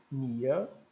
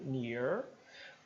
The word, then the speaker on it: near: PR é o r se eu for britânico eu não pronuncio tanto né britânico Nia né Nea Nea n e misto e o som para dentro chuar ni se for americano eu digo near né que quer dizer